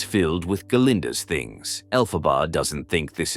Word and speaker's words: Galinda: and while he's talking, he refers to Galinda as Glinda. Galinda immediately corrects him, but Dillon still makes the same mistake as Galinda seems pissed. Alphab defends Dillond because she knows he can't pronounce it better than he already has.